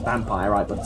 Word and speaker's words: Vampyr: and now that that is actually how you pronounce it it's basically it's vampire I've got a spell we'll learn why at